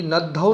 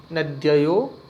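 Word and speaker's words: नद्यौ: शब्द के, नदी नद्यो, नदी नद्धौ नहीं कहेंगे, धौ नहीं है, ध धनुष वाला नहीं है, यहाँ द और ये है, तो शुद्ध पढ़ने के लिए कैसे बोलेंगे, मेरे उच्चारण पर थोड़ा ध्यान दें।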